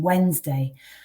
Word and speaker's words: Wednesday: also think about as a silent letter for example the t in christmas or the first d in wednesday but we won't include